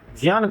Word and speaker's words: ज्ञान: Video में हम ज्ञान ज्ञान को ज्ञान बोलेंगे। ज्ञान को ज्ञान क्योंकि यही शुद्ध संस्कृत उच्चारण है।